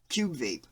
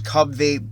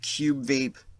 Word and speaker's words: Cubvape: yes go Cube Vape I know it looks like it says Cub Vape but sounds like a little baby name I'm pretty sure it's pronounced Cube Vape here's an overview of